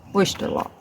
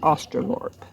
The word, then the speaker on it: Australorp: Black Oysterlorp. Black Australorp. I'm trying to pronounce it correct. Okay, so some things are not pronounced the way they're spelled at all.